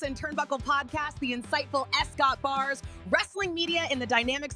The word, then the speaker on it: S. Scott Bars: Once again, pronounce it like the letter and don't say it at all. Your boy S. Scott Bars, wrestling media.